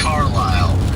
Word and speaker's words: Carlisle: It's Carlisle.